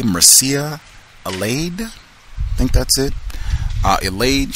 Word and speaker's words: Mircea Eliade: The author's name is, I think I'm pronouncing this correctly, Mircea Eliade.